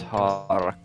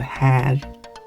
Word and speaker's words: här: Men mycket har ändrats. You keep pronouncing it har instead of här.